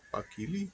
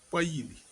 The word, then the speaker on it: Pakili: Elle est chef Pakili, alors que ça se prononce Paili.